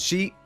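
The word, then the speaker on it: し: do interrupt you there the word for four in Japan which is pronounced she is the same as the word for death nice good that is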